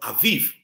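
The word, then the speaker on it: Abib: month for the Hebrews it was called Aviv but it is spelled a b i b and you put a bar under the first B so you pronounces that V Aviv or Aviv that is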